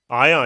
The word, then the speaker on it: Ion: of get down to the either, help me pronounce it, Jay Ion. Ion, you nailed it.